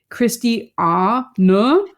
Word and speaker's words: Christiane: And my first name, you kind of pronounce like Christi Ah Na. So there's like a little bit of like a Na at the end.